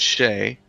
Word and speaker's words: Skjei: spelled Skjei, pronounced Shay, and they're new to the squad.